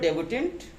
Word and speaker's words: debut: तो डेब्यूटेंट this talks अबाउट the person, and डेब्यूट क्या है, this is wrong, don't speak डेब्यूट, this is डेब्यू, DEBUT। Although we can write this spelling DEBUT, but its pronunciation is DEBUT। so that is डेब्यू।